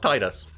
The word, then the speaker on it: Tidus: go nope no no nope it's pronounced Titus then we have here